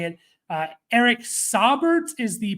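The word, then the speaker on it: Saubert: double check how to say it uh Eric sabert is the pronunciation guide for um pro football reference check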